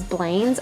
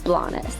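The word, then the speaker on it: Blanes: We did mistakenly pronounce it as Blaine's off and on throughout this video, but the proper pronunciation we learned is Blas.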